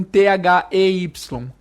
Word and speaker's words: they: A melhor forma de você imitar a pronúncia perfeita dessa palavra é você simular um celular vibrando.